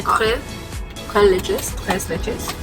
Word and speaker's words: tres leches: Another the tres leches. Is that how you say it? No, it's Spanish. Tres leches. Sorry. It's not French. No, it's Spanish. Oh. Leche is milk in Spanish.